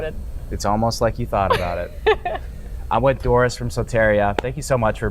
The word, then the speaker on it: Soteria: Soteria? Soteria. Soteria VR.